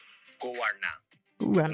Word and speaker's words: Goorna: So to pronounce it more correctly, emphasize the first part. Guarna, not Guana. Not There you good.